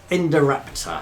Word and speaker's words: Indoraptor: Indoraptor, and that's how you say it.